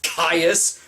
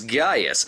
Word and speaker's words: Gaius: Why is everyone referring to him as Caius when his name in reality was Gaius? They even go so far as to spell it with a fucking C. When you look at the behind-the-scenes footage for the film, the actors correctly pronounce it as Gaius, as in this pre-dubbed clip.